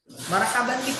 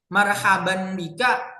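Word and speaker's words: مرحبا بك: Marhaban bika boleh, marhaban biki boleh. Terus kalau kita bacanya gini boleh. Marhaban bik. Nah, itu juga boleh.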